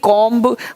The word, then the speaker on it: comb: उस तरह से COMB कॉम्ब बोलेंगे कॉम मतलब कंघा।